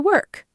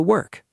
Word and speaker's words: work: The word work looks like it has an o sound, like fork, but it doesn't. It sounds like the e r in her.